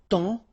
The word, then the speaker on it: temps: And then temps. Okay, so in that case, it's only the nasal here that you will hear. Temps. Okay, because the P is not pronounced and the S is not pronounced.